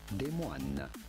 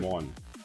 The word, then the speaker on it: Des Moines: This is a city that was originally, it was incorporated in 8, would be said Des Moines, but in America. Des Moines. Oh, Des Moines, like Moines. So Des Moines, like that.